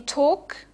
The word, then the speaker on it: talk: phon names for instance in talk okay you can hear that the the L is actually not pronounced right there's another type